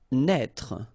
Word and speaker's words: naître: Naître. Okay, same thing here for the circonflexe. Write it, but don't pronounce it.